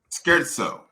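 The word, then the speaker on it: scherzo: in a symphony or a Sonata and it's pronounced scared so skirt soap Okay cool so now it makes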